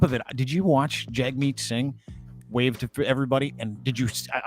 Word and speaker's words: Jagmeet: They're screaming the word traitor at Jagmeet Singh. Yeah. Sorry, it's Jagmeet. I should pronounce it right.